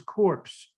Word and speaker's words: corps: own special flavor and the pronunciation of the word c-o-r-p-s in nigeria is corpse oh so i feel